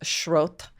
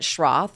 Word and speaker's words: Schroth: The word is pronounced Schroth, but people call it Schroth or Schroth.